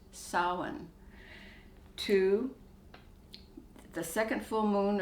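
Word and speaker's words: Samhain: version of halloween is spelled s-a-m-h-a-i-n and it's pronounced solon to the second full moon of the month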